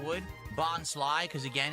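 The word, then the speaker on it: Bonsly: Oh, it's pronounced bonslai.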